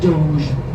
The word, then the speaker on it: Doge: The word looks like doggy, but it's pronounced Doge, D-O-G-E.